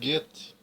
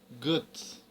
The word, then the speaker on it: Goethe: Iohan voffeega Von Guts Tem muita gente que pronunciou o nome desse autor como sendo get né não tá errado mas só que no original alemão O correto é pronunciar Guts tá então o nome